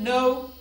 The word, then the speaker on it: know: In the word know, knowledge, night, K is silent.